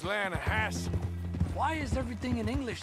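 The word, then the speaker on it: Lannahechee: no no no no no no the the lah hatche it runs right near here yeah but it's pronounced lanahassee why is everything in English said differently than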